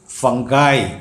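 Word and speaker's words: fungi: എത്ര മനോഹരമായിരിക്കുന്നു രൂപഭാവം വന്നിരിക്കുന്നു ഫംഗസ് അതിൻറെ plural form ഫംഗൈ എഫ് യു എൻ ജി ഐ ഫംഗൈ എന്നാണ് അത് പറയേണ്ടത് ഫംഗി എന്നല്ല ഫംഗി ആയിട്ടും ഫംഗി എന്നും ഉപയോഗിക്കാറുണ്ട് പക്ഷേ കൂടുതൽ ശരി ഫംഗൈ അടുത്തത് നമ്മൾ എന്നും ഉപയോഗിക്കുന്ന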